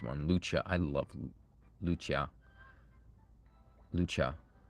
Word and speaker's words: Lucia: Lucha. I guess it's spelled Lucia, but it's pronounced Lucha. Japanese, you know, so.